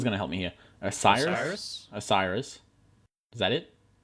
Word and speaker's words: Osiris: this one someone's going to help me here Osiris osus Osiris is that it yeah Osiris yeah Oh I thought it was way more okay Loft in the temple of Osiris uh is coming out on PlayStation 4 Xbox